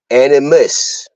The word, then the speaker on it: animus: have anima a n i m a SL animus okay a n i m u s all